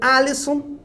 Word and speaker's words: Alisson: O meu destaque é um destaque negativo, que é o belíssimo goleiro Alisson, seria a pronúncia correta do nome desse goleiro, às vésperas da Copa,